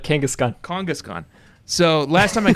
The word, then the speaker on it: Kangaskhan: Kangaskhan Kangaskhan and Z am I saying it right now Josh you want me to elongate the A's yeah you got it Kangaskhan kkhan so last time